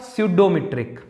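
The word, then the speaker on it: pseudometric: स्यूडोमीट्रिक। इस d का नाम हो जाएगा बच्चे स्यूडोमीट्रिक, p साइलेंट है, ठीक है। स्यूडोमेट्रिक, जैसे नाइफ में के साइलेंट होता है वैसे स्यूडो में पी साइलेंट है।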